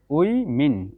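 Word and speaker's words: women: এটা দেখুন ওমান, এই যে শোয়া সাউন্ড, এখানে টান একদম কম হবে, উমান, উমান, এটা হবে উইমিন, উইমিন, উইমিন, উইমিন, এটা সাউন্ড।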